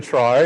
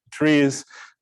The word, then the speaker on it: trie: going to talk about trees and i'm going to talk about these things um so i'll call this tri but the true pronunciation is tree uh it's it's part of the word retrieval historically all right so what